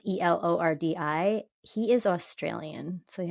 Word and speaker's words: Elordi: I don't know if I'm pronouncing it right. Elordi. It's Elordi.